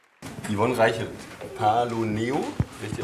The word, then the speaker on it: Paloneo: Yvonne Reichelt, Paloneo, richtig ausgesprochen? Paloneo.